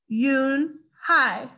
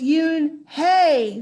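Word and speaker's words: Unhei: it's spelled u n h e i it's pronounced yoon hi oh it's yoon hey the boy said like you hey what about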